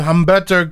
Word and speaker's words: Humberto: a backstitch interview with Humberto Carrillo the H is silent this guy was from